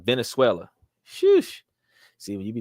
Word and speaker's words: Venezuela: King accepts cryptocurrencies in Venezula V NE z e l and Germany oh Venezuela look at that I said it wrong the first time Venezuela sh see when you